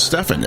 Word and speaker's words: Stephen: He's Stephen, and so his name is not Steven, and that's a lot of people mispronounce that. They assume his name is Steven, and then he's trying